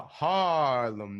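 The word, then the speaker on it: Haarlem: currently I'm in uh Harlem Netherlands it's a long a because it's h a a l m it's the original Harlem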